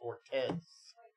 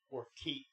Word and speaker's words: Ortiz: pronounce that right and your last name is Ortez Ortiz Ortiz the world is changing